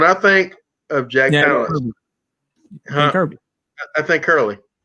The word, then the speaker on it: Palance: Is that how you pronounce his last name? Palance? Balance, yeah.